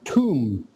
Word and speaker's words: tomb: words and that word tomb yeah yeah right uh is kind of like t-o-m-b it's pronounced sort of like this okay yeah the b is silent and then the word